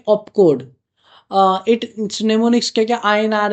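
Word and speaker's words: mnemonics: These codes are main निमोनिक्स। एम यहां पर silent होता है। निमोनिक्स बोला जाता है।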